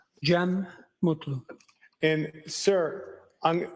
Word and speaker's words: Gem Mutlu: Jeem Mutlu.